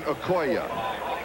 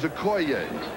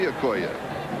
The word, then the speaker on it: Okoye: the years, you have heard this man's name pronounced Christian Okoye. We asked him yesterday because we heard that we had been pronouncing it wrong. He says, yes, he says, everybody has. The correct pronunciation is Okoye.